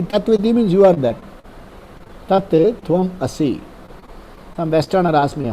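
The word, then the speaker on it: तत् त्वम् असि: Tat tvam asi.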